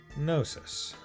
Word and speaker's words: Gnosis: グノーシス Gnosis. I'm not pronouncing the G. They're saying gnosis, but I'm going to pronounce it as though I'm just saying gnome.